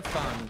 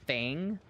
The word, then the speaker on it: Fung: It is Fung, by the way. I know it's spelled like Fing, but it's Fung. And a lot of people say Fang. I don't know, it's really weird.